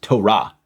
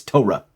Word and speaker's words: Torah: markers on it, but if you look in the book, it's pronounced Torah. The accent is on the last part. Again, how are you Jewish and don't know that? It's not Tara, it's Torah.